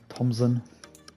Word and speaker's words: Thompson: Connor Thompson as well with a silent p or none Thompson there we go JJ